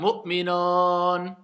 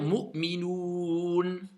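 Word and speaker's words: مؤمنون: Donc certains vont faire Mu'minon. Il y en a plein, ils le disent Mu'minon. Est-ce que ça c'est un OU? Non. Donc je dois dire Mu'minoun. D'accord? Faites bien attention à prononcer bien le OU et pas O.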